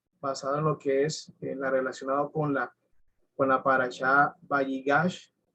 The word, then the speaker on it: Vayigash: Vayigash, Vayigash es la pronunciación, ahí lo ven, se lo estoy señalando en el cuadro.